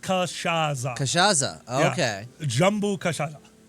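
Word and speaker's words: cachaça: Cachaca de Jambu. Jambu Cachaca. Cachaca de Jambu? It is pronounced Cachaza.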